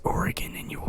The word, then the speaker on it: Oregon: I call it Oregon. It's Oregon, and you will pronounce it as such.